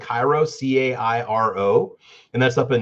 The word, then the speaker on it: Cairo: welcome to sign but everybody pronounces it Carol and I'm like no Caro is a syrup k-a-r-o it's a it's a it's a corn syrup they're like no it's Carol I know it's Cairo I'm sorry it's Cairo whether you want it or not it's don't put pyramids on your sign and expect me to pronounce it any other way people so you actually